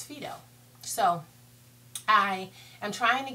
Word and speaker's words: Phyto: you should call it phto. But the lady in Sephora corrected me and the correct pronunciation is Fido.